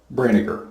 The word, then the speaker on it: Brinegar: It's pronounced just like vinegar. Just replace the V with BR, Brinegar. It's just that simple. Thank you for allowing me to be on your channel.